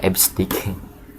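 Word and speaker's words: EBCDIC: ada Asci dan ada esdik ya dibacanya esdik kemudian yang keempat adalah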